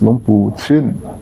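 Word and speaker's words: Luang Pu Chin: The pronunciation is Long Pu Chin. Chin. Not. Now another hot trend. Not Chin, not Chen.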